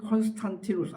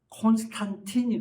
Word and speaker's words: 콘스탄티누스: 여러분 기독교가 핍박을 받다가 콘스탄티누스 라틴어 발음으로는 콘 콘스탄티노스 아 참 어려워 근데이 영어 발음으로는 콘스탄틴이 그든 응 딴 사람이 아니야 영어식으로 발음 뭐냐 라틴어 식으로 발음 뭐냐 하는데이 콘스탄틴 황제의 칙령으로